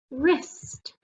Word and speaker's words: wrist: g h w r the w is silent what's the word wrist w r w is